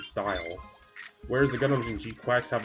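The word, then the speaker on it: GQuuuuuuX: But the art style for, I think it's pronounced G-Quax. You know, I'm gonna call it G-Quax.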